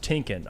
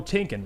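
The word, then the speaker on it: Timken: Nick Williams says FY FYI Jeff it's pronounced tinkin oh tinken Road okay that is fair thank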